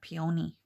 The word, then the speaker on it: peony: So I've heard some people pronounce that peony, but I've always pronounced them peony.